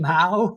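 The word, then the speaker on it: Mow: Mau. M o w like mo but ma. It's pronounced mau.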